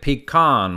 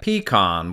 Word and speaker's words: pecan: Most of the country pronounces it pecan, with the emphasis on the second syllable. However, in the Upper Peninsula, you're more likely to hear pecan, with the emphasis reversed.